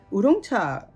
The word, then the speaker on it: 우롱차: 한문으로 오룡차는 까마귀 오자에 용룡자를 써서 우리나라식으로 읽어서 오룡차고요. 우롱차는 중국식 발음입니다. 그래서 똑같은 거예요, 결국. 그리고 다락담소에 있는 우롱차들은요, 대만 우롱차, 대만 중에서도 그 장직연 선생님, 그 우롱차, 대만에는 우롱차 콘테스트를 하는데요.